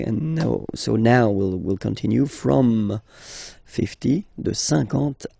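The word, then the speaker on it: cinquante: Same thing here, okay, remember that you've got this QU, but then you don't pronounce the U, and then you've got the nasal, un, and then en, 50, 50, okay?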